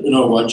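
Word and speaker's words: Unogwaja: who stands this day and his nickname was Uno gu which is the word that Bridget said beautifully out and it's a word that is widely mispronounced but unaj is the Zulu word for for a hair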